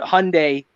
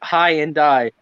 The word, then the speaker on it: Hyundai: same ones the ones that i call it hyundai and you caught high and die yeah how do you guys say how do